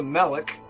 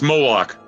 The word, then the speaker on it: Moloch: Lone Wolf, and the powers that be have implemented a surprise guest by Brother Moloch. Did I pronounce it right? No, it's Moloch. Moloch.